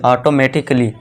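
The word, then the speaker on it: automatically: ऑटोमेटिक कली नहीं यहां देखिए दोस्तों कली है। ठीक है दोस्तों? काली नहीं यह कल काली मत पढ़ना इसे। इसे क्या पढ़ना? कली। ऑटोमेटिकली। क्यों? क्योंकि यहां पे ए के बाद क्या है दोस्तों? डबल एल वाई है। तो इसे हम क्या कर दें? ए को यहां पे साइलेंट रखेंगे।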